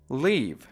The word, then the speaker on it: leave: در مورد این کلمه هم یک نکته تلفظی وجود داره. با کلمه live به معنای زندگی کردن یکسان تلفظ نمیشن.